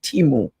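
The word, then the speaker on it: Temu: could order clothes pan Timo. That's how you pronounce it, Timo.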